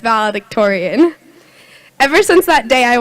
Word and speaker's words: valedictorian: startled to see that one page was titled valid Victoria's my mom seemed corrected me and I learned that it's pronounced valedictorian ever since that day I wanted to be